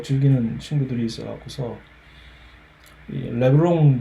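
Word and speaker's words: LeBron: 또 즐기는 친구들이 있어갖고서 레브롱 제임스 얼핏 보면은 이거 발음하게 이게 앞에 르처럼 돼 있으니까 르브롱 제임스라고 발음해야 될 것 같죠. 절대 그렇지 않습니다. 미국의 그 어느 지역을 가도 그 누구한테 물어봐도 레브롱은 레브롱 제임스입니다.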